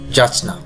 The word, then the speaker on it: যাচনা: শুরুতেই আছে যাচনা। এই উচ্চারণটি অনেকে আমরা ভুল করে থাকি। সঠিক উচ্চারণ হচ্ছে যাচনা, যাচনা, যাচনা।